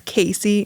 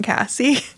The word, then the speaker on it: Casie: people all about you, Casey, not Cassie. Let's all just get that right, that it's Casey, not Cassie.